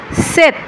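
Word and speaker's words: sept: হিসেবে উচ্চারণ করি যেমন এখানে সিংক না হয়ে উচ্চারণ হচ্ছে স্যাংক স্যাংক মানে হচ্ছে পাঁচ সিস সিজ সিস সিস মানে হচ্ছে ছয় সেত সেত সেত সেত মানে হচ্ছে সাত দর্শক লক্ষ্য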